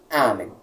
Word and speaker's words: amen: Veja bem, amém, nós não temos nenhum acento e é uma palavra que possui duas sílabas. Qual então nós descobrimos que é a tônica? Veja bem, em latim não há oxítonas.